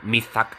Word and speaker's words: Mithaq: Mithaq College. Mithaq, okay. That's how you pronounce Mithaq in English. Mithaq. It's like mythic, but you put AG instead of IC.